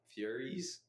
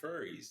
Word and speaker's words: furries: But like Furies, like Furies, you mean furries? Furries. Let's get the pronunciation. What is it? It's furries. Yeah. Versus what did I say? You said Furies. Okay. Furies. Like the Greek.